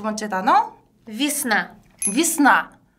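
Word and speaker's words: весна: 위스나. 위스나. 한 번 더? 위스나. 그렇죠. 우리 들으셨어요? 위스나가 아니고 위. 비. 위스나. 비처럼 들린다라는 거.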